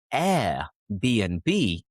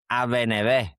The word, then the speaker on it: Airbnb: So instead of saying Airbnb, he said Aveneve.